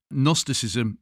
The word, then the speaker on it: Gnosticism: Can I just say if those want to do some extra work on this, Gnosticism is with a silent G at the beginning. It is not an N.